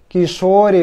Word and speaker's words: Кишори: Кишори, потому что о.